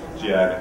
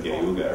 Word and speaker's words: Cuyahoga: I'm not going to try to mispronounce it like I did yesterday. Cuyahoga, thank you. I called it Cuyahoga or something.